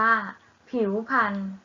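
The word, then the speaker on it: ผิวพรรณ: ทำ สุด ท้าย ค่ะ ผิว พรรณ อ่าน ว่า ผิว พรรณ เอา ละ ค่ะ เด็ก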